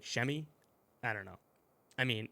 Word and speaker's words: Semi: absolutely hated semi and I'm gonna call him Sammy I'm sorry I can't say chamois if you